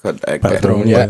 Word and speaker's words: Patroon: But anything on Patroon itself, I pronounce it correct? Patroon, Yeah, you got it.